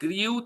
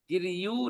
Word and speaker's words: grew: अगर उसमें यह लगाना भी है तो ग्रीव होता है, गिरियू नहीं करेंगे आप लोग, ठीक है. ग्रू एंड उसमें यह की भी प्रोनाउंसिएशन हो सकती है, ग्रू.